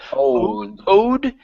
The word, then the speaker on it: old: going to be old make sure to pronounce this L here instead of old it's an an old an old telephone try that an old telepone okay now make sure that your tongue is touching the top of your mouth instead of it's old old good and oldh